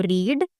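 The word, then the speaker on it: read: पढ़ने को कहते हैं हम रीड। इसकी थर्ड फॉर्म होती है रेड। लेकिन स्पेलिंग सेम ही होते हैं।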